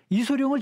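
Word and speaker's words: 李小龍: 아시겠습니까 리샤우롱 금방 알듯하면서도 잘 모르겠어요 한마디로 이소룡입니다 이소룡을 지금에 와서는 중국식 발음들을 읽어주자 그래서 리시아 울음 못 알아듣겠어요 그래서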